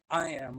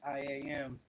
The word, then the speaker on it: I Am: It's pronounced uh I am like I am.